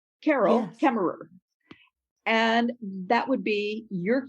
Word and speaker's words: Carol Kaemmerer: my name and you would hear me say carol kemmerer carol kemmerer and that would be your cue that you would know how to pronounce my name when we meet yes and